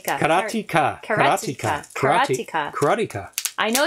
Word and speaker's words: Karateka: got it carrot taker karateka karateka karateka karateka i know it's probably no but i know that sounds a little too much like erotica but sure yeah karotika